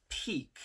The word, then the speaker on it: pique: to talk about is peak now peak p-i-q-u-e sounds very similar well it actually it's pronounced uh it's pronounced the same as p-e-a-k right like mountain peak but p-i-q-u-e is a